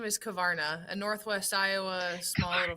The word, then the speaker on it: Korvarna: So, my last name is Kavana, a Northwest Iowa small little family bundle.